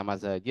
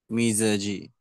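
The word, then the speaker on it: مزاج: wal mazaji Wam mazaji apa mizaji coba tadi ada yang baca mazaji ada yang mizaji Mas apa tadi mas mas Siapa mas Rosyid bacanya mazaji Ya tapi tadi setelahnya baca mizaji kira-kira mazaji apa mizaji pak bu semuanya mizaji mizaj Muza kalau dilihat di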